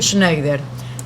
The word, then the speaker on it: Schneider: me estaba contando la historia de los primeros sneider Cómo se pronuncia el apellido primero Schneider es alemán suizo el apellido es alemán pero